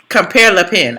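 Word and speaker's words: Compère Lapin: Compare Le Pen.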